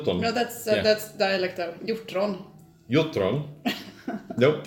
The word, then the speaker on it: Hjortron: Jesus, Hjortron. Thank you. Hjortron. You can do it. Hjortron. No, that's dialect though. Hjortron. Nope. Hjortron.